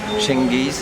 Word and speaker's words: Cengiz: Oui, moi, beaucoup de textes ont été traduits, hein, en turc notamment par Cengiz, hein, c'est comme ça qu'on prononce. Metin Cengiz.